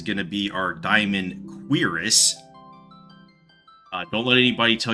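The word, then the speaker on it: cuirass: Then for draw break four is going to be our diamond quirus. Uh don't let anybody tell you it's pronounced any other way.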